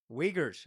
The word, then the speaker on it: Uyghurs: Uyghurs. I already told you. Is that how you say it? Yes.